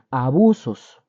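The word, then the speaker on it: ἄβυσσος: Así, abusos. Esa es la referencia, es 12, nada más, es el número 12. Abusos se escribe A-B-U-S-S-O-S. abusos.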